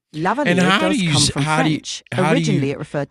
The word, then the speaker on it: lavalier: Lavalier does come from French.